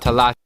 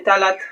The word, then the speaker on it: Talata: to a village called Talata. Alors ça se dit pas Talata, mais Talata. En fait, mon ref, c'est un américain, tu vois, donc c'est normal qu'il prononce mal.